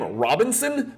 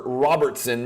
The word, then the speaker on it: Robertson: I'm not sure why mispronounce his last name Robinson please get it right it's not Frank Robinson it's not Brooks Robinson it's Oscar Robertson Mr triple double before